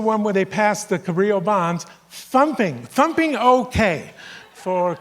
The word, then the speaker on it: Cabrillo: were confused by all ll that's how you pronounce it it's cabrillo general hides her and i mean this for